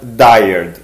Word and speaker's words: dired: is abbreviated in 1 where does dired that's how i pronounce it and i showcased